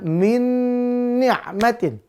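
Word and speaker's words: مِن نِّعْمَةٍ: I walaupun sama-sama Nun tetap dia dibaca idgham Bun biguna Berarti masuk langsung lebur ke huruf nun yang kedua dengan dengung maka bacanya Min nikmatin Min nikmatin gu pemirsa ya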